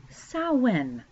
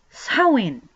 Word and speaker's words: Samhain: So some people will mispronounce it, all sorts of things. But then it'll be followed by not Halloween, but Samhain. Samhain.